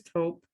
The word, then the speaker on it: taupe: What is taupe?